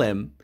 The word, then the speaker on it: him: ایره ایتونه میگن امریکایی ها don't tell him، میگن don't tell him H silent میکنن.